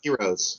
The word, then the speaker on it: Argyros: Not Do- pronounced heroes, which are delicious.